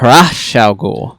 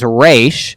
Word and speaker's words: Ra's al Ghul: And my girlfriend, she reads Arabic, and she was like, oh, it's pronounced Ra's al Ghul.